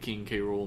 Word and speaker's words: King K. Rool: I love King K. Rool. Apparently, they asked the guy on Twitter today who named him how to pronounce it, and he said King K.